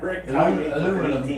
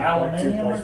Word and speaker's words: aluminium: Aluminum. Aluminium.